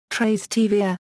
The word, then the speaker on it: Trastevere: the correct pronunciation is tra tvia with the accent on the second syllable its logo is a